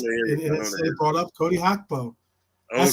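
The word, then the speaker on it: Gakpo: And it brought up Cody Hugbo. That's how you pronounce it.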